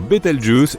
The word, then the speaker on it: Bételgeuse: supernovables pour le moment quant à la manière de prononcer correctement Bételgeuse tu peux le faire comme bon te semble tu peux même dire beteljuice si tu en as envie la supernova 1987A a